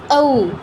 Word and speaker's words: ঔ: উটা নিয়ে হচ্ছে মূলত এই ওটা গঠিত হয়, আ আর উ নিয়ে। তাহলে এই দুটোর সমন্বয় করলে আমরা ও এর উচ্চারণটা পাই। উচ্চারণটা কি ঔ, ঔ, এরকম।